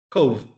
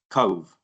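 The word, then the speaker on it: Cobh: It's spelled C O B H Cove. Cove and Cove and Cork. Yeah.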